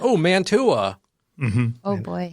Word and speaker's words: Mantua: Mantua. There you go. And now I can say Manaway because I apparently could not listen earlier.